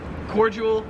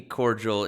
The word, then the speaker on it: cordial: or cordial so yeah in america we pronounce it cordial whereas here in the hospital you guys have sent me cordial in mail time before i didn't realize you guys actually said cordial wow yeah that's definitely